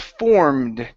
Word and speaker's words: formed: All right, let's go to the word formed. Instead of formed, okay, go straight to the D. The E will not make a sound.